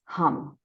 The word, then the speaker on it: hum: The color is blue, and the Bij mantra is hum. We will pronounce it H-U-M.